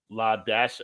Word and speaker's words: Ladasha: First name of one of my students, pronounced La Dash. What? What is this? La Dash. Her name was Ladasha, and that's how they spelled it.